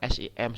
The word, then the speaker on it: SIM: tidak terlihat ya Misalnya SIM itu kan s i m sebenarnya singkatan tapi ya kita sebutnya SIM ya Lipi l i